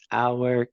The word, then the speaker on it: our: Our cat, right? Our cat. Y la pronunciación, our. ¿Sabían que la palabra our, el posesivo de nuestro, se pronuncia exactamente lo mismo que la hora?